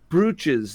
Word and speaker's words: brooch: spell it b-r-o-a approach is that how it's normally pronounced with the two o's is there an alternative spelling that is that's brooch it's brooch two o's yes English is a dumb